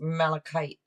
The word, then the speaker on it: malachite: __ ] today malachite okay that's how it's pronounced malachite okay thank you thank you Emma Shanaya hello